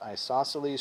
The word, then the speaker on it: isosceles: hard word to spell and maybe say it's pronounced isosceles triangle and it says two sides equal length